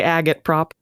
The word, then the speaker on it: agitprop: eological scents oh God that's how it's pronounced you could also say agot prop just neither of those sound right agit prop can I ask for